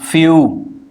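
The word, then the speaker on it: few: वंड through rude जून फ्यू क्या लिखना है फ्यू एफ ई डब्लू ये बना फ फिर य फिर उ ठीक है ये जे लिखते हैं य का सिंबल जे से आता है फ य उ बन गया फ्यू चू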